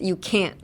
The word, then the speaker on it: can't: But if you feel like your can't sounds like a can, I would say just pronounce the T.